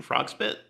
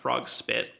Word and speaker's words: frog-bit: invasive species called European frog-bit. Um Okay. It it right I'm actually saying it wrong. It's European frog-bit, not frog-spit.